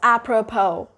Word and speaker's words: apropos: Oh, you're ending your sound with that O diphthong. So it's apropos. Next word we got, need.